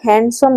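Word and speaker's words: handsome: देखो पिला माने प्रथमे हमर कोन देछि गोटे वर्ड हैंडसम देछि। तो पिला माने ए जो हमर हैंडसम वर्ड ता हमर जेतेला तो हम प्रोनाउंस करू छु से हमर डी हमर साइलेंट हो जाय।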